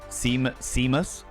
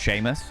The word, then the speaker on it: Seamus: Seam Seamus, but it's pronounced Sheamus.